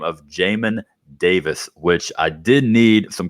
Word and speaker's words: Jamin Davis: people in the draft by the name of jamin davis which i did need some clarification on how that was pronounced i've been saying john and davis for the longest time i had bob marley